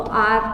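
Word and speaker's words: hour: 1 घंटे की, तो आर के हिसाब से एन का यूज होगा। अ का साउंड आ रहा है, एच साइलेंट रहेगा।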